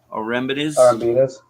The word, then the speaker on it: Arembides: How do you say it, last name? Arembides.